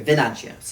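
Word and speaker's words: Venantius: Zan of Salv or Van Venanchius I'm sorry Venanchius that's how they pronounced it um is found dead and he's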